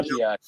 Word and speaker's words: Dowagiac: the Even though Wajiak. she spelled it out for me, and I say It's the that again. Wajiak.